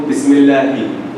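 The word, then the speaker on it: بسم الله: The first ha in the Allah, Bismillahi. That's like the English letter H. He is reciting Quran. He is going to Madrasah. He is talking while I'm talking. So, Bismillahi.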